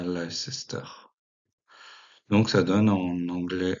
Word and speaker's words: Leicester: Leogarecastre, donc, qui va donner l'actuelle ville de, attention à la prononciation, de Leicester, pas Leicester.